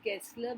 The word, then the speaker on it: Gessler: These are I pronounce them as Gessler because it's German, and German is a very phonetic language. So G is G. It's always is G.